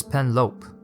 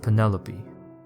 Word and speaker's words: Penelope: pronouncing her name right do you realize that you're saying pen like the pasta and lope like a dog running across a field pen lope he gave